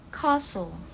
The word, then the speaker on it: castle: Britishnya kita baca castle. Jadi T-nya itu hilang. Castle. Sedangkan untuk American itu castle. T-nya sama-sama gak dibaca, cuma perbedaannya ada di awal kata aja.